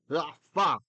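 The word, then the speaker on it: עפר: We don't say afar, we say afar, right? Afar.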